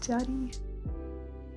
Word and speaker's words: Jadi: How do I describe how the vowels are pronounced? Jadi. The J is very soft on Jadi.